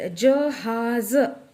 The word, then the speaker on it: जहाज़: है वो, और नेक्स्ट जहाज़ ऐसे बोलते हैं। तो नेक्स्ट ज को हम नुक्ता लगा देंगे, उससे उसका प्रोनाउंसिएशन ज हो जाएगा।